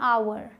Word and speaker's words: hour: यहाँ H silent होता है, इसे आप पढ़ते हैं आवर, आवर।